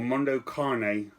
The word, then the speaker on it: Mondo Cane: So number 10 is Mondo Cane, or Mondo Cane as I've heard people pronounce it.